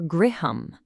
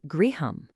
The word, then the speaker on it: griham: The story says he went right to her griham. And hey, that's our first Sanskrit word of the moment. How cool is that? It's pronounced griham. Can you say that? Griham.